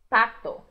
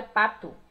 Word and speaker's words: pato: Lembrando então, né, que aqui em Minas a gente tem esse hábito de transformar o O final das palavras em U. E nesse caso não podemos, em espanhol isso não acontece. Então não é pato, é pato.